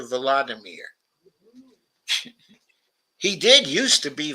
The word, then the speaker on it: Volodymyr: including his name, and went from Vladimir to Volodymyr.